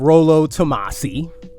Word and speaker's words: Rollo Tomasi: There may be a character named Rollo Tomasi, right? Because that's how it's properly pronounced.